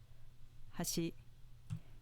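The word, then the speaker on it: 端: bridge with an accent on the second mora hashi meaning edge with no pitch accent compare hashi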